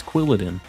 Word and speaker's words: Quilladin: say quiladen how do people say that it's quilladin oh we're already at light goal what the